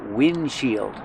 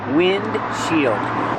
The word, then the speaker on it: windshield: this is called the windshield so you take two words wind and shield together wind shield but you don't really hear the D because it's a stop D wind shield you make